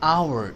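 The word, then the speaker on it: hour: An apple, an एग, an interview, N orange, an umbrella, an आवर. H silent है तो ओ आ गया.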